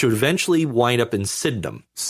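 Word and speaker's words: Sydenham: eventually wind up in Sidnum. Syndum. Sidum. It's it's it's said Sidnum, but it's spelled Sidenheim, basically.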